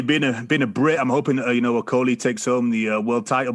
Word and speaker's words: Okolie: Also moving on from the Wembley Arena in London on DAZN, Lawrence Okolie.